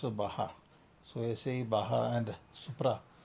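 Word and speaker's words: Baja: BAGA is pronounced as Baha.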